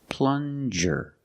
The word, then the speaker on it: plunger: this is a plunger plunger use the regular n and the JJ sound like juice plunger this is a plunger